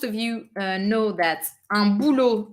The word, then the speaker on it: boulot: Un boulot, it's a masculine word. Un boulot, you do not pronounce the final T.